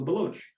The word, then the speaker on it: Baloch: I must thank you for saying Baloch and not Balochi, by the way, which is a common mistake so many analysts make. So thank you. Well done, sir. Yeah, and the Iranian pronunciation is Baloch.